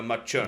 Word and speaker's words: Macerno: Macerno, like a machine. Like a machine. Like a Macerno.